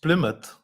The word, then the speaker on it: Plymouth: found out that this the last one is pronounced Plymouth and uh I think it's it's the original